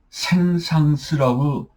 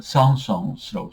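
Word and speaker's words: Saint-Saëns: 근데 제가 여기서 이제 쌍스라고 썼는데요. 아, 이게 우리나라 그 어떤 그이 국문의 표기는 생상스라고 어, 표기가 돼 있는데 저는이 표기가 마음에 안 들어서 제가 그이 발음 나는 대로 제가 쌍성스라고 썼습니다. 그런데 우리나라 그 국어 그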